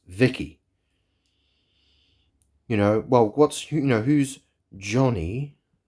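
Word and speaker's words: VIKI: I don't know if it's with, I don't know exactly how it's spelled, but the name is pronounced Vicky.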